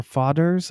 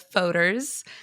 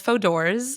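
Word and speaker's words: Fodor's: I which is it I get all different pronunciation so it's fodos my mom says fodors I've got fods and I've also got frers which is an entirely different company yeah it is yeah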